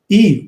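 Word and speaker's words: Yves: Eve. It's Eve Salt, like Eve Saint-Laurent. I told you what his name was.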